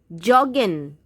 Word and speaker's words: joggen: I know J in German is pronounced like Y, or in English we can say Y, but this is an exceptional case. Please try to say it joggen only. Joggen. J for jug.